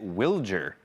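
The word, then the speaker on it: Wilyer: Um, so I met Willard on Friday for the first time and he pronounced it Wiler.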